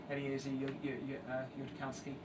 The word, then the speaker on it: Eliezer Yudkowsky: the left there is I always have difficulty pronouncing his name. Apologies, Eliezer, if you're listening to this, Eliezer Yudkowsky.